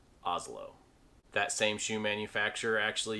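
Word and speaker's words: Asolo: easily pronounced as cool this italian shoemaker is a brand that i actually started out mispronouncing because i believed it was called a solo but it is actually pronounced oslo that same shoe manufacturer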